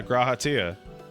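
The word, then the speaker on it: G'raha: Yeah, Grahatia.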